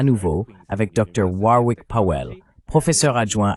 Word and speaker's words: Warwick: Et tu sais, j'ai appris que je dois vraiment réprimer l'envie de prononcer le deuxième W dans ton nom.